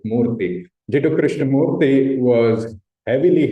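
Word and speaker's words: Krishnamurti: and Ju Krishna Morti by the way you pronounce it Morti.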